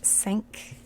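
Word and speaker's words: senk: these numbers and crew five is sank like this and it's said exactly like sank like the titanic sink just like in french six is cease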